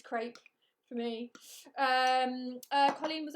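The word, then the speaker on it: crêpe: crap yes it is it's pronounced crep uh but i've never been able to get into that i've never been able to get into that so it's crepe for me um colleen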